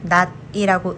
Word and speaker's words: 낮: 혼자 읽을 때는 not이라고 읽지만 뒤에 애가 따라오면 받침이 올라가서 낮에라고 읽어요. not이라고 읽지만 뒤에 을이 붙으면 not이라고 읽어요.